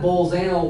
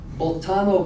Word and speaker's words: Bolzano: Not Bolzano Weierstrass, Boltano Weierstrass. Okay. For some German names or German sounding names, I try to make sure I pronounce them correctly. W is a B sounding, for example.